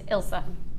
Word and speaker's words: Ilsa: Because I met Ilsa the other day, and I've never been sure on how to say her name, and I wrote it down phonetically, and it is literally on a board in the office that everyone else now knows that it's Ilsa.